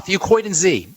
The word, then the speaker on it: Fucoidan: Fucoidan Z. Let me spell it for you.